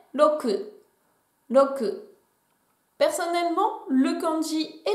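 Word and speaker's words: 六: On continue avec le chiffre 6 qui se prononce en japonais roku.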